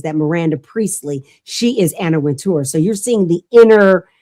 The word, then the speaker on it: Wintour: And the woman who has been at the helm of Vogue magazine, her name is Anna Wintour. Anna Winter, depending how you want to pronounce it.